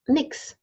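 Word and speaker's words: nichts: a new sound so leasts nothing is often pronounced Nix Nix Nix so that doesn't matter the smart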